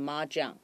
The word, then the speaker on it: mahjong: 好，所以麻将这个字的发音哈，就是从我们的中文麻将，所以念成 mahjong.